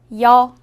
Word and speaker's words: 여: 여. 여는 먼저 이를 소리 내다가 바로 이어서 어를 소리 내며 발음합니다. 이와 어를 순서대로 빠르게 말해요.